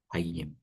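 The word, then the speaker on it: חיים: Porque aquí tiene un dagesh fuerte y se duplica la yud. La primera. Hayim.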